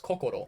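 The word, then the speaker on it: 心: It is in Japanese, it's pronounced cocoo, right?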